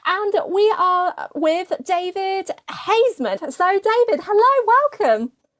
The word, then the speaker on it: Haisman: yeah some people say some people say Heisman but it's not Heisman it's hazman h that all sounds